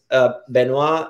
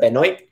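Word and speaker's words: Benoît: We were having this conversation because Benoit is how you pronounce it in French, but if a Latino will pronounce it Benoit, because you have B-E-N-O-I.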